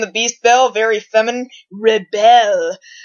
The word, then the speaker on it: Rebelle: the NERF Rebelle, and that's spelled like rebel, except the bell part is like belle, as in Beauty and the Beast bell. Beauty and the Beast bell, very feminine. Rebelle. Rebelle? Rebelle?